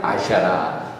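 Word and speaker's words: אשרה: 우리가 다 배웠잖아요. 알렙, 신, 레이시, 헤이. 아쉐라. 헤이. H. 발음이 되죠? 아쉐라.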